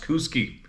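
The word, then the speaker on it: Kooskia: cusia cus KUSI KUSI k o o s k i a but he says pronounced KUSI Idaho I never had any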